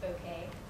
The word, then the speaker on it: bokeh: like the word looks like bokeh it's actually pronounced bokeh and you can actually go you can like